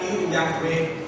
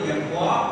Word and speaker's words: Yahweh: Yehwa kadang dilafalkan Yahweh, padahal orang Yahudi sendiri tidak pernah melafalkan Yahweh. Yang betul Yahwa atau Allah, Yahwa atau Yehwa pelafalannya.